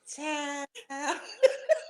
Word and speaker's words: CHIIILD: Now, Child is spelled CHIIILD. So you have to say Child.